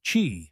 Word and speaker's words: Qi: The most common standard is Qi, pronounced Qi, which is supported by most modern smartphones, wireless earbuds, and even electric toothbrushes.